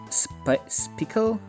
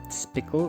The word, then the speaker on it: Spickle: Spickle? It's supposed to be like spike and bicycle, so Spickle, I think it's the way you're supposed to pronounce this one.